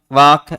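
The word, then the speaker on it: walk: टाक, वाक और चाक, इसके अंतर्गत समानता प्रकट करता है कि तीनों के अंतर्गत अंत में ए, एल, के लिखा हुआ है और इनका उच्चारण करेंगे तो एल साइलेंट रहता है, एल का क्या हो जाता है, लोप हो जाता है।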